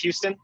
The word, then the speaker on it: Houston: And it is pronounced Houston, like the city.